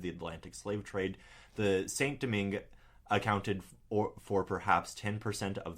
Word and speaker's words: Saint-Domingue: I'm just going to say it like you, Saint-Domingue.